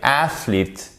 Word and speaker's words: athlete: Et souvent, en fait, ce qui va se passer, c'est que le E qui est juste avant, il va être prononcé comme un I long. Regardez, athlete, athlete.